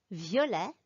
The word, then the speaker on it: violet: Gris, vert, violet, blanc. I didn't pronounce the S, the T, or the C at the end of these words. In French, we call them silent consonants. We just don't pronounce them when they come at the end of a word.